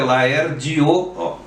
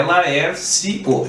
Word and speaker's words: Laerdio: Ou vai no Instagram dele, é Laerdio, não é Laercio, é Laerdio Esteves, tudo junto, Esteves, não é?